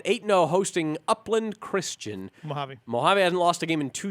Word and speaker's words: Mojave: Mojave what what what what do you say mo jeff no just get me usually Mahatma javi mohave mohave hebei all right I used to mispronounce boron and now I corrected on Mojave as well all right moving on